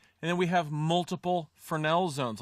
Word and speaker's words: Fresnel: The Fresnel zone, it's French, so it looks like that. It's pronounced Fresnel.